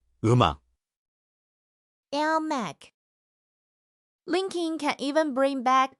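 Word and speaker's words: 음악: It's spelled eung a k, but the m slides over, so we say eum ak.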